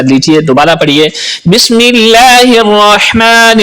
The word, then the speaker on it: الرحمن: کے پڑھیے۔ بسم اللہ الرحمن الرحیم۔ بسم اللہ الرحمن الرحیم۔ الرحمن اور الرحیم، یہاں پر ہا استعمال ہو رہا ہے جو کہ حلق کے درمیان والے حصے سے ادا ہوتا ہے۔ ہا اور دو چشمی